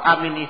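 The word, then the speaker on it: آمين: Nah, berkata ahli bahasa Arab bahwa haknya dalam bahasa Arab amin itu hendaklah diucapkan dengan waqaf. Maksudnya waqaf, kita berhenti. Karena asalnya amin itu lafaznya diakhiri dengan di fathah akhirnya. Asalnya itu amina.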